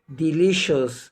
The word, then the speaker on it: delicious: يبقى يا جماعة النهاردة المقطع بتاعنا مقطع مهم جدا، وقلنا ما بينطقش السي لوحدها، طبعا السي اي اي والسي اي اي والسي اي او مع بعض بتنطق شين.